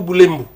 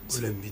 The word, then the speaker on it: Boulembi: C'est Boulembi ou Boulembu? Boulembi, très bien. Boulembi, j'ai bien prononcé.